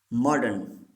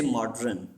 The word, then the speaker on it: modern: Number 7, modern. Don't say modern. Modern. This R is silent.